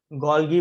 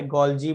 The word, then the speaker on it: Golgi: गोल्गी apparatus, ठीक है, गोल्गी बोलो चाहे गोल्जी बोलो जॉल्जी बोलो, जो बोलना है बोलो, बस स्पेलिंग राइट रखो।